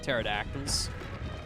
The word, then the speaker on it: pterodactyls: So there's like pterodactyls. The P is silent.